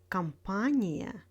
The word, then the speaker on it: компания: In words with iya, iye, stress falls on the syllable before iya and iye. Компания, авария, ударение, исключение.